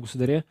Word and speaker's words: государя: был там прометею черного государя правильное ударение государя кстати не путайте и он описал прекратите